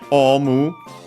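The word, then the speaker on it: オウム: But yeah, omu, unaccented, technically a Chinese compound, and so unsurprisingly then unaccented.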